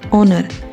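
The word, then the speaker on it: honor: इस वर्ड को प्रोनाउंस करेंगे ऑनर। यह वर्ड एच से शुरू हो रहा है और एच एक कोसोनेंट है। लेकिन हमें कंसोनेंट नहीं कोसोनेंट साउंड को देखना है।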